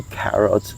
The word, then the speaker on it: carrot: When you pronounce the carrots, so the K should be enunciated very well. It should have a puff of air like this. Carrot, okay? Just like the country of Canada.